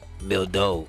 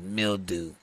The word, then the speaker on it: Mildo: Man, I am Mildo. It's French. But thanks to Solomon, everyone here pronounces Mildew.